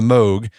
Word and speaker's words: Moog: Is that how you pronounce it? Moog or Moog?